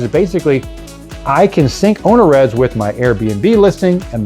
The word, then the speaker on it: OwnerRez: And OwnerRez is spelled owner, like it sounds, and then at the end of it, R-E-Z, and it's short for owner reservations.